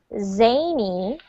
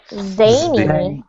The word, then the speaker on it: zany: In this case, it's pronounced with the Z, zany.